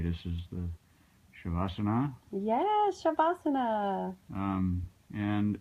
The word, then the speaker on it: Shavasana: So learning this position, and if I remember to say it right, this is the Shavasana.